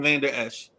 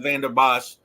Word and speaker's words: Vander Esch: I think it's Leighton Vander Esch. I always call him Leighton Vander Bosch.